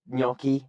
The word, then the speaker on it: gnocchi: Everyone knows gnocchi, right? So it's a GN spelling, and you wouldn't, if you didn't know gnocchi, you wouldn't know not to pronounce the G.